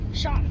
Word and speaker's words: Cian: How do you say Cian? Sean.